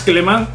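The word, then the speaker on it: Clément: Yo creo que la pronunciación es un poco más Clement. Clement Lenglet, ¿no? Más que Clement. Es francés, tío, no es español.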